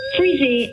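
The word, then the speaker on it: Frisé: Freezy, as in frizzy.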